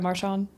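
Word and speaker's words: Marchand: Brad Marshon.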